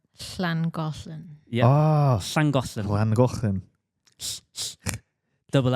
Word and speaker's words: Llangollen: Langolan? Emily, you can have a go. You're good at Welsh pronunciations. I would say Llangollen.